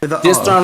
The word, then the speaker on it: Distron: Is it Distron, right? I pronounce it correctly? Yes. Distron.